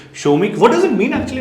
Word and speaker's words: Somik: exact Bangla pronunciation is Somik.